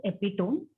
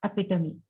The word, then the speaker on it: epitome: Epitome, it was pronounced as epitome. It has to be pronounced epitome.